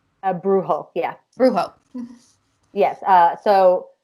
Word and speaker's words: brujo: culture being a am i saying it right brujo a brujo yeah rujo yes uh so brujo is the